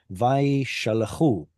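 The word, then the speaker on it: וַיְשַׁלְּחוּ: Usually this isn't the syllable that gets the stress, is it? Atzere, and whenever we add the u on the end, usually the stress moves to the end, and that becomes a shva.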